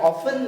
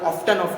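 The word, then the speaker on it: often: ये they are ऑफ्टन larger than staphylococci, यानी कि they are ऑफन larger. T क्या है, साइलेंट रहता है बेटा इसमें, है ना, कोई लोग ऑफ्टन करते हैं।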